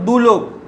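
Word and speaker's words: দ্যুলোক: দেখো হ্রস্ব উকার, হ্রস্ব উকার দিয়ে শব্দ দেখো দুলোক, দয় জফলা হ্রস্ব উ লয়কার ক, দুলোক, এর উচ্চারণ কিরকম হচ্ছে দেখো দু লোক।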